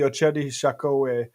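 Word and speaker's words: Oceti Sakowin: Tribal leaders of the Ochedi Shakowee, it's pronounced, deliver notice of trespass and eviction notice to Grand Gateway Hotel.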